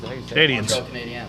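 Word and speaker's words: Canadiens: montreal they're doing that why are you saying it like that the canadians canadians canadians that's how it's pronounced it's basically it's c-a-n-a-d-i-e-n-s canadians canadian canadians canadians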